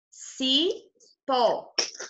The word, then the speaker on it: cipó: Cipó. O pó é a sílaba mais forte.